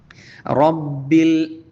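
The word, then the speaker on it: ربِّ: കാറ്റ് പുറത്തേക്ക് വിട്ടുകൊണ്ട് ഉച്ചരിക്കുക റബ്ബിൽ വീണ്ടും റാിന് പരത്തി പറയാതെ റബ്ബി ആവാതെ തഫ്ഹീം കൊടുത്തുകൊണ്ട് റ എന്ന് ഉച്ചരിക്കുക റബ്ബിൽ ആലമീൻ ആ എന്ന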